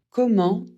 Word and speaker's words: comment: cours pourquoi tu ris comment pour un moyen ou une manière pour la prononciation e et n ça fait en on ne prononce pas le T à la fin sauf pour comment allez-vous c'est une exception on